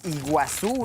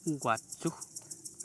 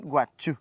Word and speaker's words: Iguazú: Entonces, ¿cuál es la pronunciación correcta de iguazú? Guachu. Guachu. Guachu. Entonces, sí, miren. Y ah, porque las la i no es i, sino que es.